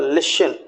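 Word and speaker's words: listen: और इसके बाद लिशन, LIST, लिशन, तो टी एस के बाद टी है।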